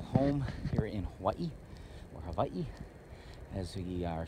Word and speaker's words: Hawaii: Most people know of Hawaii as Hawaii, but actually the Hawaiian language, W is usually V, D. So Hawaii or Molokai. So that's how it's usually pronounced by the local people.